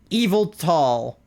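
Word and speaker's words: Yveltal: your buddy old palia evil tall evil tall evil tall so the Y is pronounced like an e not like a y that makes sense evil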